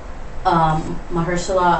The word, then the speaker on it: Mahershala: And also Mahershala Ali won an Oscar for That's how you say it.